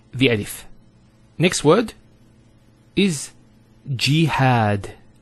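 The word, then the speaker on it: جهاد: So we have here G, that's the first syllable, and then had, jihad. So you notice here we have a fatha on the ha followed by the alif, and that gives the elongation of the A sound.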